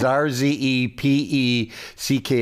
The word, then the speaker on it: Rzepecki: It's Polish, and the Polish version is Rzepecki. Rzepecki. I was going to do that, but let's just let people know how to spell it. We'll do the phonetic pronunciation, which is Rzepecki, CEO of Marketplace Inc.,